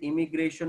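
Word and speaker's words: immigration: बट अभी माइग्रेशन दो प्रकार के है, इमिग्रेशन और इमाइग्रेशन. जानबूझ के उसका प्रोनाउंसिएशन अलग निकल रहा हूँ. इमिग्रेशन यानी आना, जो आई से स्पेलिंग चालू होती है, और इमाइग्रेशन यानी जाना पर्टिकुलर पॉपुलेशन से, जो ई से चालू होती है.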